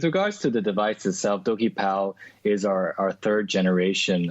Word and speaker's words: DokiPal: talk to us about dokie pal so it's do ki and is that it's like okey dokey is that kind of how it's pronounced is that right correct